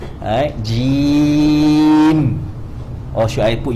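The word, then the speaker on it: جيم: Then when we pronounce jim, right, we prolong the ya.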